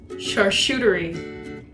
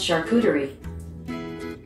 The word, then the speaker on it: charcuterie: hey google how do you pronounce charshootery that's pronounced charcuterie you're right hey guys